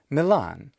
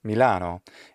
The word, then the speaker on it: Milan: just as we inherited the word milan which there's no reason for milan to sound like the latin name mediolanum or to sound like the modern italian name milano any more than we should say roma instead of rome or roma in english we can we certainly